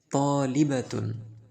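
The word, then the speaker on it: طالبةٌ: এর এই পাশে আছে দেখেন তলিবাতুন একজন ছাত্রী, একজন ছাত্রী।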